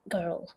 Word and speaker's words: girl: Girl. Girl. Yeah. Girl is a strange combination. It's the long vowel with the kind of the consonant L mixed in.